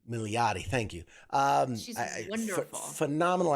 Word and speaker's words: Milioti: Oh my god, I can never pronounce her last Kristen name. Milioti. Milioti, thank you.